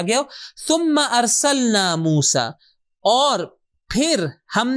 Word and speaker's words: ثم: ثم، کہ صحیح تلفظ اس کا ہے ثم.